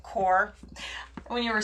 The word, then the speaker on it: QoR: it's about qor but you pronounce it core when you were saying